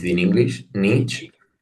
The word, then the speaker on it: Nietzsche: How know you pronounce it in English? Nietzsche. Nietzsche. Nietzsche.